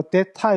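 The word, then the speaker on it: θ: 때 요것은 뭔가 하면 여기 발음이 이게 약간 th 발음에 뭐 이렇게 하기도 하고 디귿 뭐 데타 이런 식으로 이렇게 발음하기도 합니다.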